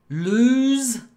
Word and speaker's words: lose: want you not today listen to the pronunciation of this okay lose loose lose loose so this is a long one this is to lose lose it's a long one and this one short loose but they're not connected